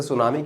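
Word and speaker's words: tsunami: अच्छा बच्चों, कभी आपने सोचा कि कुछ ऐसे वर्ड्स होते हैं जिसमें, जैसे सुनामी की बात करें, टी इज साइलेंट, है ना, कुछ ऐसे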